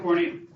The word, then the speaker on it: corneum: yeah and then stratum corneum corny rhymes with horny it's known as the